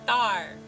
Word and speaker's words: Tharn: Tapos ito yung kapatid niya, si Tar. Pag binibigkas nila sa scene yung pangalan ni Tar, walang lalabas na R.